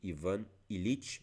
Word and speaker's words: Ivan Ilitch: E aqui estou falando sobre a morte de Ivan Ilitch, é sim, é desta forma que se pronuncia, do Lev Tolstói.